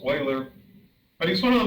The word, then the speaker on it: Euler: a one time a math student said you're mispronouncing his name mr freer so i was always saying euler he said it's euler but he's one of the most prolific mathematicians